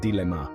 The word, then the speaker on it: dilemma: that's a true dilemma the pronunciation is dilemma with the stress on the first syllable it's quite straight forward